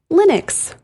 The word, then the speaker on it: Linux: I say it as Linux. What about you, Kim? I say Linux. Yeah, not everybody does because this is the number one. Is it? Mispronounced. Yes. I bet people say Linux. Oh, yes. Or Linux. Linux, sure. Like Kleenex, Linux.